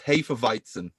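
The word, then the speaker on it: Hefeweizen: german it's spelled h-e-f-e-w-e-i-z-n that's right but it's pronounced hey for viton what can you say yeah i mean jesus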